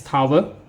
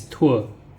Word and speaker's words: tour: music in different places so this is tour so this is not pronounced as tower so this is tur number four the sound